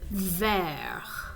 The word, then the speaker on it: vert: what it's describing okay the color for green is ver but if it's feminine then it's going to be pronounced vert okay the color for